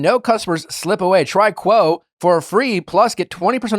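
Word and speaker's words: Quo: growing teams rely on Kwo to stay connected, professional, and consistently reachable.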